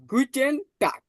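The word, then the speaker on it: Guten Tag: এবার গুডেকে জার্মানিতে বলে গুটে টাক গুটে টাক ঠিক আছে জিটাকে আমরা পড়ছি গে ইউটাকে পড়ছি উ তাহলে গি টি এন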